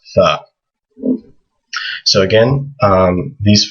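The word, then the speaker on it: ث: And it makes a TH sound like the word thing. In English, TH can either be the or tha. There's different letters in Arabic for both those sounds. This one is just tha.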